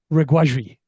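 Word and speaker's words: Regragui: I always get this wrong. Reguaji. That's how you actually pronounce it.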